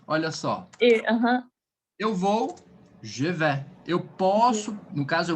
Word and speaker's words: je vais: No ir, a gente vai trabalhar a pronúncia um pouquinho mais aberta. Je vais. Então, abertinho, ó, je vais.